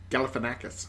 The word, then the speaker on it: Galifianakis: Galifianakis.